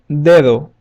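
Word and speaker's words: dedo: an example in Spanish will be the word Deo Deo which means finger the word e in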